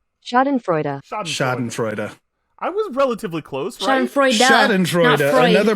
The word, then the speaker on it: schadenfreude: freud come on baby is it fraud instead of no it's freedom it has to be don't blow me freuda it's duh at the end shot in freuda schadenfreude i was relatively close